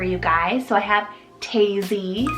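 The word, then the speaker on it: Taisie: So I have Tazy, spelled T-A-I-S-I-E, Tazy.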